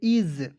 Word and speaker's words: is: बाद देखेंगे आई एस इसे पढ़ेंगे दोस्तों इस नहीं पढ़िए इसे पढ़ेंगे इज एस का उच्चारण ज के रूप में करेंगे इज इज मीस होता